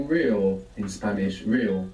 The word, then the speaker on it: real: say real in Spanish real real real real good when we have an r at the beginning you might hear it like rolling real how do you think you would say really real real also means